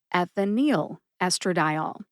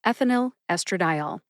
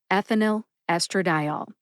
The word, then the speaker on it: ethinyl estradiol: the correct pronunciation is ethinyl estradiol. Ethinyl estradiol. Let's break ethinyl estradiol down into syllables. Ethinyl first. Eth, like death. I, like the short I sound in the word president.